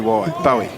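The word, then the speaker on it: Bowey: tick for me yeah I was thinking Barry would be spelt with an A at the end that's all like David Bowie yeah but oh this is P owy bo w ey Bowie I realized that's what's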